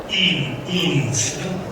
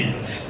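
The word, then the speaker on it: Eames: chiamavano Charles e Ray Innes, credo si pronunci, e Hannes è scritto, quindi Innes, che si chiamava The Powers of Ten, i poteri del 10.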